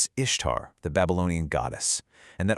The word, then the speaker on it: Ishtar: The whole meme hinges on the idea that Ishtar is just pronounced Easter. So, is it? Well, the short answer from linguists who actually study ancient Acadian is nope. Not even close. The real pronunciation was something like Ishtar or maybe Ishtar. That similarity you see, it's just a coincidence in modern English spelling, nothing more.